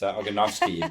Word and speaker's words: Ogonowski: It's Ogonowski, but well done. Ogonowski. So the W is pronounced as a V, right? Yeah, V/F, like Ogonowski.